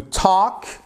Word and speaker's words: talk: To talk, you do not pronounce the letter L, please.